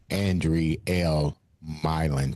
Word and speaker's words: Andrielle Mylin: like to welcome to the show Indiana's own Andre L. Milin to the show. Did I pronounce her name right?